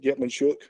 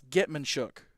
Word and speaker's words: Getman-Shook: Tucker Wadsworth, who's going to anchor our line, and 2 quarterbacks, Getman-Shook and Knox Cooper. So a lot of I'm, leadership. I'm glad you pronounced that last name because I've seen that last name.